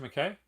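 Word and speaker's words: Miike: to a foreign country is it mckay mckee makai because i know i should know this but i suck at pronunciation mckay thank you takashi mckay now there's a there's a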